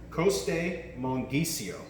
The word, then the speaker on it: Costemonghisio: and now get ready for a mouthful let's pronounce this together Coast a monkey Co that's all that's it most Italian words and